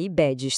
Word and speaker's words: IBEDES: E a pronúncia correta é IBEDS, tá?